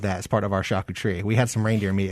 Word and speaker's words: charcuterie: That's how you say it. Charcuterie.